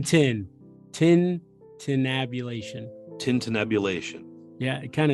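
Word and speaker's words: tintinnabulation: u l a t i o n Tintin Tin tabulation Tin tabulation yeah it kind of it's one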